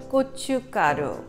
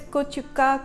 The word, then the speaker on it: 고춧가루: Now, Korean red pepper flakes in Korean is called 고춧가루. I know, people are like, what? Gochu what? It's actually G-O-Chu, C-H-U, Ga-G-A, Ru, R-U. 고춧가루, 고춧가루. So if you go slowly, it's not that bad.